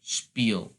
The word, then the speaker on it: spiel: And remember, the pronunciation, you have to pronounce the e, because the rule of IE and EI, you always pronounce the second vowel. So it's pronounced spiel, because you pronounce the E instead of the I.